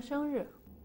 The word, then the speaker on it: 生日: Mingtian shi wo laogong de shengri.